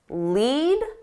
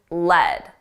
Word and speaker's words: lead: Two pronunciations, lead and lead.